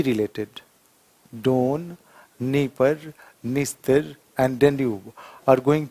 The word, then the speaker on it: Dnieper: One is a Dnieper. One is Dniester. One is Don. Are you finding there? Everywhere you will find the name begins with Don. Somewhere D is silent.